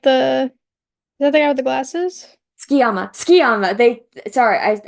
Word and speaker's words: Tsukiyama: Number Wait, 9, Sugiyama, is that the guy with the glasses? Tsukiyama. Tsukiyama. I'm pronouncing it different than they did in the dub.